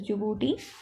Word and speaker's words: Djibouti: D is silent, so it is Djibouti.